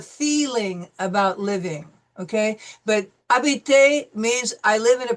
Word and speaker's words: habiter: It starts with an H, but the H is silent because we have learned that H is always silent.